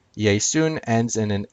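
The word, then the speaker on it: Ἰησοῦν: Jesus I would say yay soon yay soos is Jesus's name used as the subject in Greek obviously yay soon is Jesus's name used as an object notice the difference yay soos ends in an S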